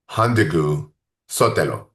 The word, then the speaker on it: Hondagneu-Sotelo: Professor of sociology at USC, Pierrette Hondagneu-Sotelo. How did I say I said it wrong, huh? No, no, you did it right. You said it right.